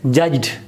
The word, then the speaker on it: judged: Here again, da remains da. You cannot change it into ta. Naturally, when you try to pronounce this word, it remains da, judged.